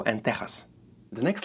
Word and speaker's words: Texas: word like that is teas even though both of the words are spelled with echis they are pronounced like letter H in the word ham these two words are